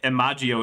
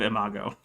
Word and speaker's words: imago: don't care enough but i will call out eric for saying emagio instead of imago anyway we're gonna go